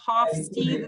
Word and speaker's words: Hofstede: sure i'm not sure how dutch would pronounce it it's hofstede you know and then you know half steve that would be i guess more americanized pronunciation of that hot speed you